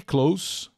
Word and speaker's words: close: Obrigado pela presença e Close próximo som de s entre duas vogais merece atenção aqui é som de s mesmo Close ining Closer closer